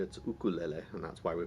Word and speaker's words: ukulele: I'm in Hawaii, and that's how we say a Hawaiian word in Hawaii. But if you want to call it a ukulele, you can call it anything you want.